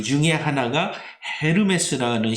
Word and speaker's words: 에르메스: 여기에 명품 이라고 하죠 엘엠에스 라고 제 발음을 하기도 하는데요 올해 제가 여러분에게 소개하고자 하는 것은 전혀 그것과 상당히 없습니다 어 이 앨범의 쓰는 이 회사의 창업주 이름이 티에리 에르메스 이기 때문에 에르메스 고 올해 제가 여러분에게